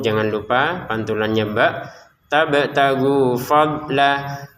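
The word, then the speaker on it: فضلا: Tabtagu fadla. Untuk ini tulisannya fadlan tapi kita bacanya fadla ya. dibaca panjang dua harakat untuk lamnya karena kita berhenti di sini.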